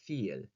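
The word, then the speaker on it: viel: a v vile or feel for a lot pronouncing the v as a f so feel so those sorts of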